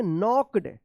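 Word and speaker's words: knocked: नॉक्ड एन के एन ओ सी के ई डी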